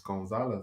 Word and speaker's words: Gonzalez: Victor Gonzalez. Like, hey man, just hey man, it's Gonzalez. That's how it's pronounced.